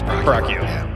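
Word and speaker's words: Pracchio: you doing prio it's prio p r a cc h i o oh yeah but both Caesar and my name they both make noise the L and yours is silent right right yeah so we're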